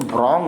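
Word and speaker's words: wrong: और इसमें रॉन्ग नहीं पढ़ते, रॉन्ग पढ़ते हैं। यहाँ पे WR साइलेंट हो गया, ठीक है ना।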